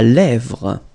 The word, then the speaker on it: lèvre: La lèvre. Remember, accent grave here. Eh, really open. La lèvre.